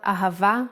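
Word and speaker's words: אהבה: Now let's spell ahava with the full nikud.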